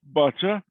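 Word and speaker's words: boccia: wanted to make a distinction so it's actually pronounced bacha but it's basically the same same game as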